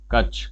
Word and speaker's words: कच्छ: Gulf of कच्छ हो गया, sorry, कच्छ कच्छ, हाँ रॉन्ग प्रोनाउंसिएशन रही थी।